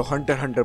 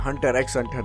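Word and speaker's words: Hunter × Hunter: यस, बाय द way guys, इसको हंटर हंटर pronounce करते हैं, हंटर एक्स हंटर नहीं।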